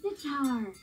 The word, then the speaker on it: sitar: looks like a guitar it sure rhymes with guitar doesn't it but it's most similar